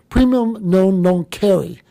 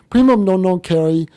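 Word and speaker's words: primum non nocere: to do no harm my wife teaches Latin and she said it's premium known don't carry I would have never pronounced it that way but we've all been told in medical school premium no known carry we should not hurt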